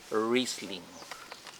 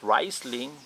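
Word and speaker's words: Riesling: share to you for the white wine is wristling so not riseling wristling okay i don't have that bottle here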